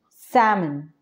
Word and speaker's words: salmon: the first one is salmon here the L is silent we do not need to pronounce l okay what is the